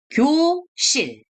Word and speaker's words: 교실: Nah, jadi kan, lalu vokal yo, jadi kyo. Benar ya. Lalu di samping ini S-nya, lalu vokal I, lalu di bawahnya ini L. Jadi bacanya 교실.